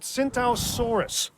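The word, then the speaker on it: Tsintaosaurus: told it's called that synthosaurus the t is silent like the pea in swimming and it has a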